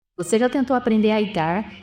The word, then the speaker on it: ITAR: dos Estados Unidos então a pronúncia que eu sempre escutei é aar aqui no Brasil eu já ouvi algumas pessoas falarem itar não tem problema é mais